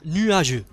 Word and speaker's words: nuageux: نويا جو، الحرف الأخير إكس كما ترون لا ينطق، حرف ساكن، إذا نقرأها nuageux.